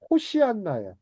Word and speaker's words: 호산나: 여러분들 호산나 만나니까 반갑죠. 원래 발음은 호시안나예. 호시안나 호시안나 호사한나 호시안나 호시안나 호시안나가 정확한 발음이에요.